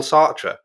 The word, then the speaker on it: Sartre: top of nonsense um jean paul sartre or sat if you want to say it properly which i won't um oh you're so